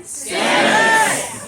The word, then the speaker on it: Stamets: Stamets.